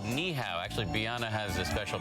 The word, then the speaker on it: Ni'ihau: been given that assignment if you just said neow any hello be go lasri it's Sunday September